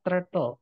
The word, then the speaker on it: turtle: sama kayak penyu teman-teman penyu itu bacanya Turtle pakai e bukan pakai a ya jadi Purple artinya